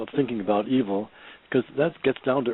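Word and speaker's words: yfel: yes but the word evil don't forget it's comes from the Anglo-Saxon word YF e l which happens to be pronounced evil the same way and it's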